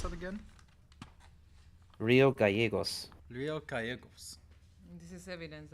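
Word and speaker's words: Río Gallegos: Gallegos? No, it's Gallegos. Yeah, two Gallegos? L's. I always have to remember that makes a Y. So how do I pronounce that again? Rio Gallegos.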